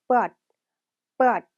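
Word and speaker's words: เปิด: 자, 켜다는 but, 끄다는 빛, 발음이 유사하기 때문에 꼭 같이 공부를 해주셔야 돼요.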